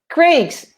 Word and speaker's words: Craig: Rafa says, I prefer Craig's. Craig is spelled C-R-A-I-G. Okay, not Thank Greg.